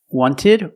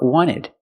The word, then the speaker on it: wanted: Americans will say 20 wanted or wanted it's more common to hear Americans say wanted you have NT in the middle the t is silent other examples internet internet